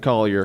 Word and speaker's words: Coulier: did the makeup um Mark uh Collier or Coulier it's spelled Cooley cut it out but he's from England so I'm betting he pronounces it Collier okay what's he doing